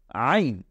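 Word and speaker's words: ع: এই হা, এরপরে হলো আইন, এই দুইটা হরফের উচ্চারণ কিন্তু ঠিক গলার কণ্ঠনালীর মাঝ বরাবর থেকে আসবে, একেবারে ভেতর থেকে আসবে।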